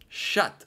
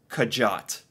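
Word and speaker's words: kjøtt: meet shut shut okay shut like in American English this would just be sh h u t shut it is oh my my gosh that is crazy how differently this is spelled if I had tried to read this I would have said kajot I would have read this as kajot but it's shut meat meat okay I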